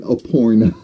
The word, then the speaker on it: Aparna: And yes, I finally know how to say her name. I can't believe saying Aparna. Because I just couldn't get the enunciation.